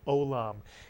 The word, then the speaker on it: olam: about this word that begins with a silent letter the silent iein don't read it as a why it's a silent letter two vowels two syllables the word is o Mitsu yon olam it's a word you